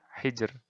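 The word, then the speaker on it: حِجْر: Nah, ro-nya di akhir ini. Bacanya tipis. Hijr. Sihr. Nah, sihr. Hijr. Nah, kayak gitu. Jadi, tipis saja. Tidak ditebalkan.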